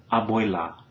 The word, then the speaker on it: abuela: So what you want to remember is to keep your tongue in that low and central position, right? Plenty of space in the mouth for the sound, and to pronounce that vowel crisply, whether it's stressed or not.